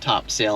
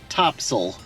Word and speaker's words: Topsail: we were told that it's not called top sale Island even know it's spelled top sale it's called topsel mhm topsel is what the locals call it so that uh was